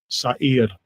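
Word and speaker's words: שָׂעִיר: Let's see how this word is pronounced. Strong's H8163. Sa'ir.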